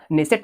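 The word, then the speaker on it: Knesset: क्या नाम है दोस्तों ने सेट नाम है इसमें के जो है आपका साइलेंट है दोस्तों इस और क्या-क्या क्वेश्चन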